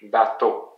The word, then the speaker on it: bateau: And the word for boat in French, bateau. Bateau. So again, two syllables, ba, and it's the last one that is the most emphasized. To. Bateau. So this works for all the words in French.